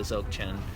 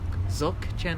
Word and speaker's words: Dzogchen: Dzogchen. I always say it wrong too. I add a B.